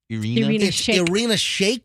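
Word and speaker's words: Irina Shayk: say this model's name it's uh Irina Shake Carina Shake just remember shake it don't break it oh yeah or shake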